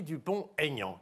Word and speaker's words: Dupont-Aignan: Parce que je n'ai pas dit Aignan, j'ai dit Dupont-Aignan.